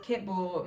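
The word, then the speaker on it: Kitbull: DeSera, Hair Love, Kit Bull, Memorable Sister. Pitbull. Kind of sounds like Pitbull. Because it rhymes with Pitbull.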